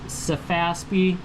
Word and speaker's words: Sefaspe: So, again, this is pronounced Safaspi.